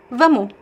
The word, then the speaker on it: vamos: The final R and S some many times it just disappear as well when you're speaking fast. For example, vamos means let's go. Vu is pronounced as a vu without the s.